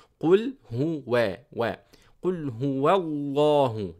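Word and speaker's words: الله: Qul huwa, wa, qul huwa allahu, not allahu. As I said, the lam is very light in the Arabic language, but the only word in which I pronounce the lam very heavy is the word of Allah, because that suits the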